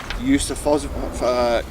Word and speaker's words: Yusufovic: The market reads $3.60 O'Malley, who is trained by the very illustrious and well-renowned Enver Yusufovic.